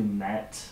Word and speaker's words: MAETH: may we same if but we're also mispronouncing it it's closer to met okay it's a mispronunciation of a weird transliteration of the hebrew word SMS okay which is relevant